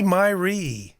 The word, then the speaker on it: Miree: Miree.